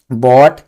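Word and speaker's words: bought: इसका सही pronunciation read. और जो थर्ड फॉर्म बनता है वो रीड पढ़ा जाता है। बाय बोट बोट क्या?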